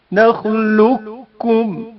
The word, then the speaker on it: نخلقكم: متقاربین بھی کہتے ہیں۔ قاف ساکن کا کاف متحرک میں ادغام، نخلقكم ادغام کی حالت میں نخلقكم نخلقكم پڑھا جاتا ہے۔ لام ساکن کا